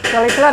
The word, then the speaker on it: Chrysler: Chrysler, bener nggak bacanya Jang? Chrysler ya, ya Chrysler.